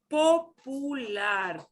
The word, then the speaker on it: popular: Popular, popular. Cuidado con la pronunciación de popular, right? We don't want to anglicize that one.